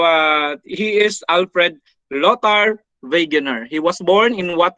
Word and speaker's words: Wegener: he's a german okay therefore if it is a w we pronounce it as letter v okay so the w